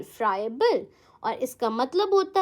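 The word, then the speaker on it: friable: फ्राइबल कैसे pronounce करोगे आप? फ्राई। ठीक है? ए बल। ऐसे ही ब्रेक करके याद करो। फ्राई ए बल। फ्रायबल।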